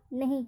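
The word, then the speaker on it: knee: Example देखिए, के N double E, यहाँ पे के एन आ रहा है स्पेलिंग में, तो यहाँ पर के का उच्चारण नहीं होगा।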